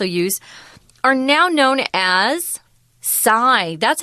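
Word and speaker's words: Psis: This little youngster or youth, these youth, you could also use, are now known as Psi. That's how you pronounce P-S-I-S. It's actually after the Greek letter.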